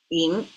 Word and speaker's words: 寅: Well, this is yin, and it pronounces yin means revere.